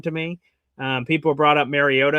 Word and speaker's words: Mariota: People brought up Mariota, I guess, or Mariota to pronounce his name properly, apparently.